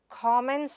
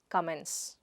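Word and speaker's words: comment: After watching this video, put your ko-ments in the discussion forum and not kament. What is the next word? Ko-ment and not, Kament. Repeat it after me, Ko-ment, Ko-ment.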